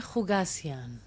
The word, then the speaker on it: Khoucasian: My name is Hugasian.